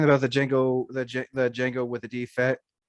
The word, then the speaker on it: Django: I did Django Fett, but Django was the D is silent Django.